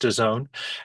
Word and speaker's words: DAZN: D A ZN pronounced Done.